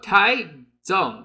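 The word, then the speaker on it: Taichung: So Taiong, I know that that's that's a C, but in uh Mandarin you would say it like that.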